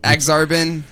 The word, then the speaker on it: Aksarben: it's called the exurban I get made fun of because I put a really strong emphasis on the other syllable yeah Aksarben which is everything Center and Nebraska spelled backwards yep it's Nebraska for